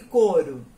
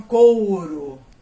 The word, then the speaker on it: coro: Algumas pessoas falam couro, mas a pronúncia correta é coro. Você não precisa subir com esse U, tá? Esse U, ele é uma semivogal, gente. Ele não precisa ser enaltecido.